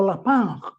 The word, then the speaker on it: Lapin: Primer Ministro haitiano Michael lapin o la Punk como se pronuncia en francés de estas mafias que